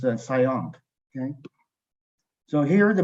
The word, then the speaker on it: CIOMP: And actually, the name is very long and it's difficult to pronounce CIOMP. So you can pronounce the name as SIOMP.